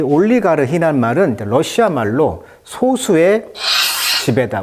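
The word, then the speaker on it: олигарх: 올리가르히 러시아 말로는. 영어식 이름으로는 이제 알러가키라고 합니다. 알러가키. 강세가 이름절이 있어요. 영어식 발음은 알리가르키. 러시아 말로는 올리가르히.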